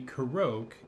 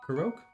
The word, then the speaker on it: Korok: Korok? No, Korok. Korok. Korok. It's just ingrained into me. I've been saying it wrong for, I don't know how many years, 5 years or so.